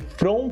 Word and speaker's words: front: Front, o T, essas palavras, as sílabas mudas no final, a gente nunca pronuncia.